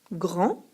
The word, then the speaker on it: grand: ces mots au féminin grand je mets un dé à la fin car je peux dire une grande et trois je mets un T car je peux dire une étroite une étroite un grand ou une grande lorsqu'un adjectif est éloigné